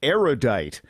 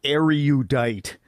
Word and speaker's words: erudite: But seriously, a surprising number of erudite people mispronounce erudite, which has 3 syllables, not 4. Say erudite, not erudite.